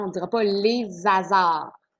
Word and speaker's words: hasard: tu vas dire les hasards, hein, on ne dira pas les hasards. Donc, hasard, c'est aussi un H aspiré, donc l'illusion n'est pas possible.